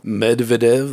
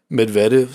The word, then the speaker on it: Medvedev: Stefanos, known for his bullshit Russian incident with Daniil Medvedev. That's how you say it. Medvedev, sorry, sorry.